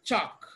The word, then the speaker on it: chalk: Option C is chalk. Even though we have L in chalk, L is silent.